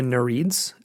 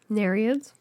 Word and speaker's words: Nereids: And we talked about the Nereids, or Nereids? Nereids, right. Thank you for correcting me. Sorry. I pronounced it the same way on that episode too.